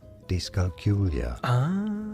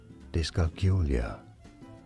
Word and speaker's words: dyscalculia: Dyscalculia. Dyscalculia. Stress on the third syllable, on the Q syllable. Dyscalculia.